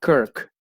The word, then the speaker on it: Kirk: En Escocia la palabra iglesia se llama Kirk, así como está, K-I-R, que se pronuncia Kirk.